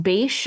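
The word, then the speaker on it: Bache: in America, he meets Benjamin Franklin's son-in-law, Richard Bach is how you pronounce it. B- A C. Do you know how to I have heard it pronounced Bash.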